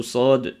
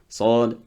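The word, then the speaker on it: صاد: Aussi souvent dans la lettre Sad et Dad, il faut bien prononcer le nom de la lettre. Il y en a qui arrivent ici et te disent Sad, Dad, non. Sad, ça se termine avec le qalqala sur le del.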